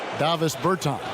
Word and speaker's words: Davis Bertans: Oh, well, now, at this point in my life, it's Davis Bertans. Is that how you say his name? Yeah. Davis Bertans.